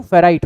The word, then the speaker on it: freight: पर FREIGHT it's pronounce as फ्राइट corridor, ठीक है।